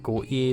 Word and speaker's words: Gotye: I know it's meant to be pronounced Got-ye but the Scot in me is reading it in a certain way so Goat-ye it remains.